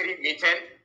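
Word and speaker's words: methane: CH3 मीथेन या मेथेन दोनों तरह से प्रोनाउंस किया जाता है, हिंदी प्रोनाउंस करते हैं तो मेथेन, वही इंग्लिश प्रोनाउंस करते हैं तो मीथेन प्रोनाउंस कर दिया जाता है।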